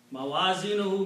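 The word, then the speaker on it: مَوَازِينُهُ: Now, if I combine these two words, mawazinun and who, by the combination, only one dhamma is pronounced. So the word becomes mawazinohu. Mawazinohu means his scales.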